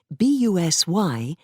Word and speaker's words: busy: from another for example b-u-s-y is the spelling from one dialect but the pronunciation busy is from another during this time there